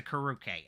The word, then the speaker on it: carucate: Oh my god, it's always a production finding the pronunciation. Oh wait, is it a carucate? Oh yeah, okay, it's a carucate.